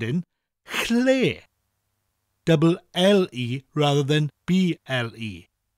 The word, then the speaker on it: Lle: Chle is spelt L-L-E, and that double L sound is often hard for people to say when they first start learning Welsh. Well, I'm going to show you now how to say it nice and easily. To say it, put your tongue on the roof of your mouth just above your teeth. And say L like the L in lid, L, while blowing air.